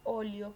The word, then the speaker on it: óleo: Y tenemos que óleo conforma 3 sílabas, ¿verdad? De las cuales la sílaba tónica se ubica en la antepenúltima, que viene a ser O, ¿verdad? Por ello, entonces vendría a ser una palabra esdrújula, ¿verdad?